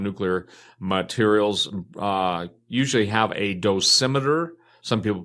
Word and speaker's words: dosimeter: who work around nuclear materials usually have a dosimeter. Some people pronounce it dose meter, which is basically a miniature recording Geiger counter